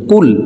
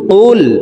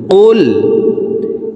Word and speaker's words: قل: আমরা অনেকে এই কফ হরফের উচ্চারণ কাফের উচ্চারণ করে থাকি, কুল কুল এভাবে পড়ে থাকি। প্রিয় দর্শক, কফ হরফের উচ্চারণ জিব্বার গোড়া তার বরাবর উপরের তালুর সঙ্গে লাগাইয়া উচ্চারণ করতে হবে।